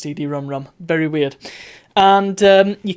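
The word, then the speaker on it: CD-ROM²: example it's called a CD ROM ROM there you go um I don't know why it's spelled CD ROM squared but it's pronounced CD ROM ROM very weird and um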